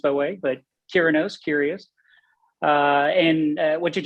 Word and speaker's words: Curinos: from the south so i say kyranos like curious instead of purenose okay i think i've heard it pronounced by way but kiranos curious uh and what